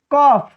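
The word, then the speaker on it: cough: यहां देखिए लिखा है जैसे RAU, देखिए ROU, यहाँ O है फिर यहाँ U है, OU के बाद आया है GH, तब हम इसका उच्चारण किससे करेंगे फ से, तो ये हो जाता है रफ, ये हो जाता है स्लफ।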